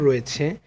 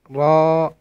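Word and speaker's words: ر: তারপরে এটা র, এটা মোটা হবে, র, র।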